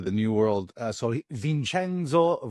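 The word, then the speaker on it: Vincenzo: new world uh so vinchenzo Valeri as they would pronounce in Italy uh Vince valer in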